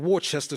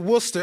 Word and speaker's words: Worcester: they got a sauce, and I call it Worcester sauce. They steady want to call it Worcester.